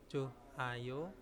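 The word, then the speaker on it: 좋아요: Nah, contohnya di sini Ilbon ada joayo ya, joayo bacanya ya joayo, hanya dihilangkan ya Yorobun.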